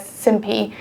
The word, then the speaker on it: SimPy: internet told me that you should actually pronounce sin pi the simulation library as simpie but I won't be